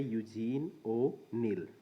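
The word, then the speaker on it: Eugene O'Neill: आपको थोड़ा सा मुश्किल होगा इसकी स्पेलिंग याद करने में, और इसकी प्रोनाउंसिएशन है वो है यूजीन ओ नील।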